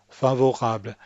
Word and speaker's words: favorable: Next, favorable. Think of the syllable break as coming in front of the R.